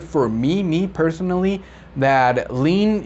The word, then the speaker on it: lien: me me personally that lean if i hear the word lean i will not remember that it is spelled l-i-e-n so that's a word